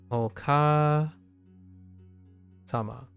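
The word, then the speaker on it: お母様: Until then, it's pronounced Oka Sama.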